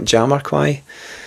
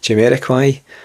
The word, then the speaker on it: Jamiroquai: Is that how you say it? Not Jamiroquai. Jamiroquai.